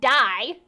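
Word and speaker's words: Dai: Yeah, it's not actual die, but it's just Pronounced like it.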